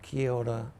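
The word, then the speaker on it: Keota: I was born in a little town called Kota Oklahoma how do you spell that k e o t a that's I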